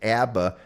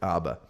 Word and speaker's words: ABBA: Disco was Abba as if you pronounce if you're from the East Coast you pronounce it Abba if you're from other places you pronounce it ABA uh that there was